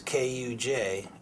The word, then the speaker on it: Kujanek: And Kujanek, which rhymes with Titanic or Atlantic or gigantic, same inflection, is Kujanek.